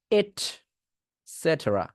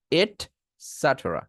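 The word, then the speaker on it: et cetera: ইটিসি নিয়ে আসি তো এইটাকে আপনার বলতে হবে এট সেটরা এট সেটরা এট সেটরা এট স্যাট্রা এট স্যাট্রা ঠিক আছে এট স্যাট্রা এবং টেরা না বলে ট্রাও বলতে পারবেন এট্যাট্রা এট্যাট্রা আপনার ইচ্ছা ইটিসি কে এট সেটেরা বলবেন নাকি সেট্রা বলবেন আপনার ইচ্ছা এটসেট্রা এটাও বলতে পারেন এটসেটেরা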